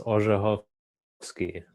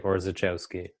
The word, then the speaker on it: Orzechowski: pronounce your last name uh in polish it's pronounced ojofsky uh in english i would say orzichowski okay well i'm glad